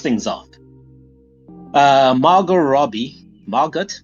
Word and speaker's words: Margot: off uh Maro Robbie Margot Margo Margo yeah pronounce his first name it's silent T right yeah yeah he's French